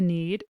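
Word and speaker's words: knead: be described as need although it's pronounced the same as need with a K we can see that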